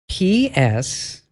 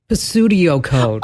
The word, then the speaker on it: pseudocode: PSEUDOCODE. So PSEUDOCODE. Pseudocode? Yes, pseudocode. But some people, I've heard them pronounce it like Pstudio code. Oh, PS is never never, ever, ever. It's like Pstudio.